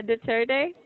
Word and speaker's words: Duterte: Duterte. Am I right Oh, about yes, yes. pronounce? Yeah. Yeah, Duterte.